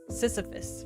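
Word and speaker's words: Sisyphus: I always forget the pronunciation. Sisphus, right?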